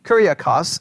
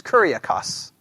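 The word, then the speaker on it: κυριακός: That's how it's translated, the Lord's, Kuriakos. Everybody got that word? Kuriakos? Everybody there? Just make sure. And if you want to spell that out, Kuriakos would be, if you're writing it out, Kyriakos. Kuriakos.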